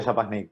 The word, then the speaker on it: Schapanic: Sí, se pronuncia Schapanic, pero cualquier pronunciación es aceptable.